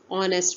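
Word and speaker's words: honest: एन ऑनेस्ट मैन, ऑनेस्ट मैन में H silent है और आवाज़ किसकी आ रही है, ओ की, ऑनेस्ट मैन।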